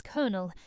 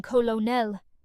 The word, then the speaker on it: colonel: it is spelled, saying colonel, but in British English, it is pronounced as colonel, exactly like the word for the center of a nut or a grain of corn.